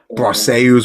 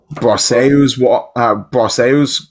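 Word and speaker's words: Brosseau: Well, Baseball Reference has the pronunciation, and it says Brahso. Broseu.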